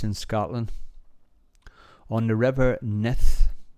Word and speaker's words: Nith: scotland on the river neth now i'm probably pronouncing that wrong it's spelled n-i-t-h nith or ninth not sure but a lovely little